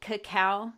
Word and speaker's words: cacao: me am I saying it right to say cacao chemistry yes yes okay cacao is the Latin